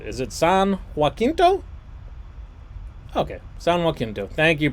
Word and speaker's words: San Jacinto: Okay, San Jacinto. Thank you, pronunciation cat.